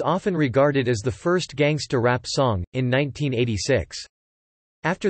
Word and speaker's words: gangsta: Gangsta is a non-rhotic pronunciation of the word gangster. The genre was pioneered in